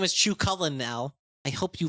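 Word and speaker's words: Cú Chulainn: it worse every single time his name is Chu cullin now I hope you like it they do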